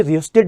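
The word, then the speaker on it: rheostat: ये है variable resistance जिसे रिस्टेट भी कहा जाता है बेटा इसके प्रोनंसिएशन में एच साइलेंट होता है चलो आगे बढ़ ले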